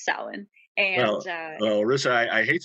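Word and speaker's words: Samhain: that started in Ireland called Salin and it's spelled s-a-m-h-a-i-n just to confuse us Americans and um that's not really why but um in the old Gaelic language it was since it was pronounced Salin and uh Russia I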